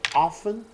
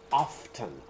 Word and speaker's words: often: So often, some people pronounce it often, other people pronounce it often. Both are correct pronunciation.